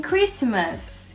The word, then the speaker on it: Christmas: Oeste no l e a gente não vai falar a letra T Cassol Cassol a mesma coisa in Christmas gente isso é bizarro